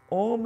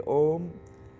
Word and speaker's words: Om: for a second time Om is phonetically is Clank here uh spelled as a u and M the a symbolizes the